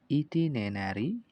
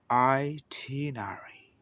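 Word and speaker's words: itinerary: Travel ইটিনেনারি, এখানে আপনি লক্ষ্য করুন। তো এইখানে ইটিনেনারি যে ওয়ার্ডটা আছে এটা কিন্তু সঠিক উচ্চারণ নয়। অর্থাৎ আমি যে উচ্চারণটা করলাম ইটিনেনারি, এটা সঠিক নয়। এর সঠিক উচ্চারণ হচ্ছে আইটিনারি, আইটিনারি অথবা আইটিনেনারি, আইটিনেনারি, আইটিনেনারি অথবা আইটিনারি, আইটিনারি।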